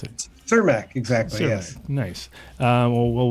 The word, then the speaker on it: Cermak: How do you pronounce it? Cermak, exactly.